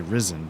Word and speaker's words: Risen: with um Gothic or is it ryzen risen I would say risen but I don't know it's pronounced ryzen for some reason because